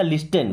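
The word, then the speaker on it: listen: इस वर्ड को देखिए आप चाहे तो लिसन पढ़ सकते हैं क्या? लिसन बट नो यहां पे टी साइलेंट होता है।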